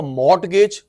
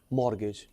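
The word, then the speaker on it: mortgage: बेटा T silent होता है, अगर तू बोलेगा मॉर्टगेज, मॉर्गेज, कोलेटरल, उसके बेस पे जो लोन मिलता है, जो ना मिले मार्जिन।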